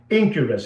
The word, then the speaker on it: Enquirus: So that is the first one, and it's called Incurus. It's spelled Enquirus.